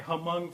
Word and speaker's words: Hmong: And so we keep saying, yes, that's my Hmong friend, but it's Hmong. It's not Hmong, it's Hmong, right?